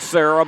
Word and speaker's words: Sara: It's spelled like Sarah, but it is Sara, how she pronounces it in Italy.